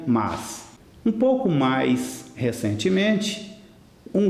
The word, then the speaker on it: mas: Só que a pronúncia, infelizmente, de Milton Nascimento, desde 1978, é mais é preciso ter força. O correto, o único correto seria mas.